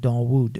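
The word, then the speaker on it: Dawud: Because I think I mean David is pronounced Dar um at least in Iranian and Arabic. They would pronounce it darwood.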